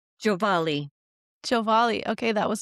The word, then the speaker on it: Giovale: Giovale.